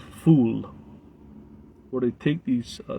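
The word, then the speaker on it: ful: middle eastern disc called fool f-o-u-f-o-u-l like foul but they pronounce and it's one of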